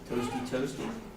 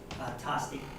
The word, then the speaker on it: Tosti: Next is Toasty. Dr. Gold, did I say it right this year? Tosti. Tosti, no, see it? It's my central Pennsylvania accent.